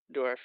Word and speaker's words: Dourif: Brad Dourif. Dourif? Yeah. Is that how you pronounce his last name? Dourif, yeah.